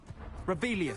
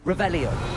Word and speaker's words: Revelio: Revelius. Saying it wrong. Ugh. Revelio.